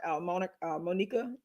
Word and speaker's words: Monika: It's Monica.